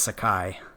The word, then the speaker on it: Sakai: I mean, it's Japanese and it's Sakai. Yeah, I think it's Sakai as well. Probably. Um I think it's George Decay. I don't know why, but George Jin Sakai.